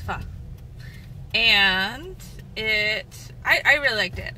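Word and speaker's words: phở: It's pronounced pho.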